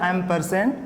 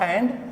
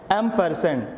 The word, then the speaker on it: ampersand: Okay class, now here class, it is okay, it is pronounced as a ampersand, not and.